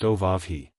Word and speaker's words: Oahu: start started I named him after this island Oahu pronounced oav the first gate he came to he started